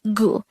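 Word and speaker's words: 구: the korean version of number nine is just gu and then we'll just add it to the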